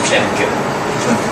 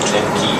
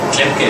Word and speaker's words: Klemke: Well, it's German pronunciation would be T. Klemke. But of course it's fine to say in international English or Klemke even. Klemke is the right way, so but just call me.